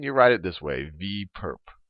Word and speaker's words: V perp: superscript on V and you can pronounce this is V perp not for a purpose for a perpetrator but or perpendicular so V perp V perp